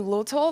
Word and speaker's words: luteal: And, you know, I mispronounced like luteal phase. I'm like I probably said the little phase or something like that, you know? And she was like, you mean luteal?